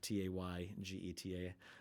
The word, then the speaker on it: Taygeta: I always pronounce it maybe slightly off. Taygeta.